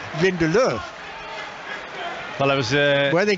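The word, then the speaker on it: Lindelöf: But it's probably me, you know, putting you off the United player, which is spelt Lindelof, but I'm categorically assured that the pronunciation is Lindelof.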